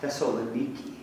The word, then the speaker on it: Thessaloniki: America or to be to be correct now Thessaloniki which is how it is pronounced the locals there in new anyway these were